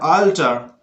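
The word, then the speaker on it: alter: जैसे आल्सो, बाल, माल, टाल, फाल, ऑलमोस्ट, आल्टर, आल्टर क्या पढ़ना है, अल्टर नहीं पढ़ना है, आल्टर, आल्टर, ऑलवेज, वाल, ऑलरेडी, ऑलरेडी।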